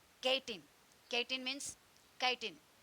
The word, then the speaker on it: chitin: Chitin means chitin. Pronunciation chitin.